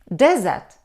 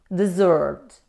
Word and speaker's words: desert: addressed me in English desert desert it's a noun we stress on the first syllable it means a large area of land that has very little water and no plants growing on it but when we stress on the second syllable we pronounce desert dessert means to leave somebody